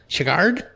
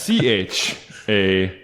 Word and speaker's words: Chagall: Chagard? Call. Listing letters. No? You just butchered that. No, it's Chagall. Chagall. I was pretty close. No, you weren't. Like Steven Seagal?